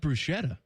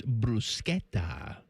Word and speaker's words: bruschetta: No, it's not bruschetta. It's not? It's bruschetta. Oh. You say it like the Italians. I'm sorry. Bruschetta. Bruschetta. Bruschetta. Not bruschetta. You got to, I don't know. I've always gone with the SH I understand sound. most people do, and I'm more comfortable